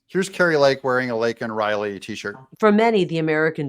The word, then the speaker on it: Laken Riley: flub, which is that he did not say Laken Riley's name correctly. He called her Lincoln Riley, couldn't even say it.